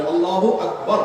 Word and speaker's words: আল্লাহু আকবার: তাকবীরের সাথে বলতে হবে আল্লাহু আকবার, আল্লাহু আকবার, এরকম বলা যাবে না।